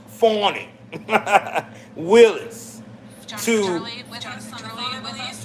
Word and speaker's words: Fani: Prosecutor engaged by Fanny, pronounced Fawny, Willis, to...